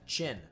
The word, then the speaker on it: Qin: a little lore on kin uh i'm sorry i'm still trying to transfer i i've been calling him keen for a while his name's actually chin it's pronounced it's pronounced chin but uh there's a